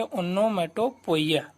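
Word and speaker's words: onomatopoeia: तो चलिए दोस्तों देखते हैं हम लोग अब जो है आपका 7वां नंबर पे ओनोमेटोपोइया, जिसको दोस्तों पढ़ते हैं हम लोग, इसका प्रोनाउंसिएशन सही से आप लोग को पता होना चाहिए। ओनोमेटोपोइया, जिसको हिंदी में दोस्तों ध्वनि सूचक अलंकार कहते हैं।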